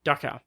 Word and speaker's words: Dachau: Am I pronouncing that right? Dachau. Yeah. Dachau.